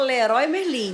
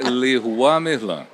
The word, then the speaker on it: Leroy Merlin: é que se pronuncia no Brasil a gente fala Leroi merlim mas já vi brincando que Lan é lá fora é l merlan meran l merlan aqui a gente é brasileir